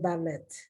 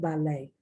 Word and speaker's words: ballet: a thousand times and i've never heard ballet i've heard ballet valet once again french